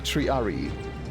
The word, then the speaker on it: Triarii: Yeah, like in any Latin I have learned, it's not triarii, because that's how you pronounce it in English.